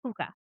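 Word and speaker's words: púca: The puka. P U c a puka.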